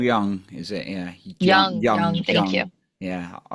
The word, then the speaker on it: Jung: Yeah, Young.